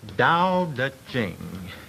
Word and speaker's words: Dao De Jing: It's pronounced Dao De Jing, if we want it in the Chinese.